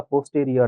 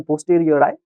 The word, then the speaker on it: a posteriori: तो शब्द कोणता आहे अ पोस्टरियर आय किवा याला पोस्टेरियरी पण म्हणू शकतात पण पोस्टरियर आय चांगल प्रोनन्सशन आहे प्रायर म्हणजे काय जे